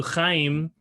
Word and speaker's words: Chaim: So with no further ado, Chaim, let me just tell you a little bit about his professional background.